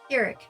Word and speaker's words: Pyrrhic: So Pyrrhic is correct.